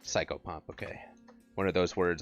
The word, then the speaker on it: psychopomp: it's a uh it's a psychopomp or sicko pomp I don't know how it's pronounced it's a nasoy no soy here I'll just I'll paste it into chat cycle pump is correct psychopomp okay one of those